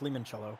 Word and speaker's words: limoncello: and a half ounces it's pronounced lemon cello because it's an i oh but yes uh